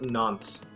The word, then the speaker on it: nonce: Alright, I'm not saying that right. Like nonce. Whatever. Is that N-O-N-C-E. Australian or is that UK? No, I think that's UK. Okay. But yeah. Like. You said it right the first time.